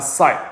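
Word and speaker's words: ψ: sine function a side uh function this is pronounced as a site the wave function and dx so after we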